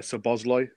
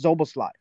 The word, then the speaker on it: Szoboszlai: you're positive but it's say it faster like don't say it like it's different words it's zobo slide okay um it's still